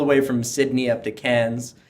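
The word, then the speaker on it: Cairns: from Sydney up to Cannes as the locals call it not carotenes as it looks like on the map for us Canadians that's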